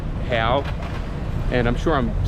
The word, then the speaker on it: real: Brazil is the Hal it's spelled like a real but they pronounce it Hal and I'm sure I'm